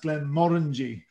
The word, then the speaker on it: Glenmorangie: all the rest but we believe it should be pronounced glenn moringe with the kind of rolling r that you get uh in in the